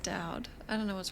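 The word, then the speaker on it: Daud: No, how do you spell it? D-A-U-D. Yeah, of course it's pronounced Dowd.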